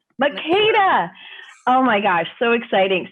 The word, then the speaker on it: Makeda: Make sure I pronounce it right. You're on mute, so let's just there you go. Wonderful. It's Makeda.